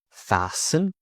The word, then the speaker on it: fasten: Silent T. Listen, castle, whistle, whistle, fasten, fasten. If you're on a plane or you're in the car, you need to fasten your seatbelt.